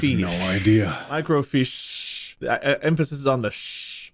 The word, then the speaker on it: microfiche: big H how do you pronounce that it's pronounced no idea micro fish emphasis is on the shh micro fish okay all right good we learned something today